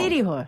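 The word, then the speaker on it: city hall: 시리홀. 네, 시리홀. 역시. 시리홀. 역시 배운 뭐야? 사람. 뭐야 배운 역시. 사람. 모음과 모음 사이에 끼면 알로 발음된다는 거 저도 알고는 있는데 이게 머리에 있는 거랑 실제로 잘 안 되더라고요.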